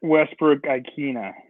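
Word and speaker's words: Westbrook-Ikhine: Nick Westbrook Ikina.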